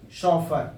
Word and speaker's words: chauffeur: Second word है सॉफर, सॉफर, सॉफर, CHAUFFEUR, शॉफर। इसका pronunciation क्या हो जाएगा?